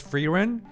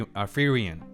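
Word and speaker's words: Fern: know her name is pronounced Ferren. A lot of viewers and a lot of people made me aware, but I'm nine episodes in guys. I I can't go back now. I know it's Ferrin, but I'm going all the way to Free Fion.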